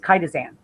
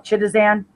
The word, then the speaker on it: chitosan: So what I came up with was chitosan.